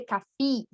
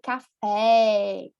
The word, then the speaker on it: café: especial é o seguinte: quando uma palavra termina com a letra E, mas essa letra E é acentuada, né? Tem um acento, um tilde, nós não vamos substituir, nós não vamos substituir pela letra E, pela letra I, desculpa. Vai manter forte, vai ter bastante força. Não, eu não vou dizer café, não.